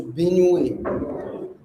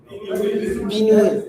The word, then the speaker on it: Benue: So, is it pronounced also Benue? Benue. Like this. Not there.